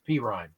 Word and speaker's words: Perrine: You don't pronounce his name right. It's Perrine, but that's okay.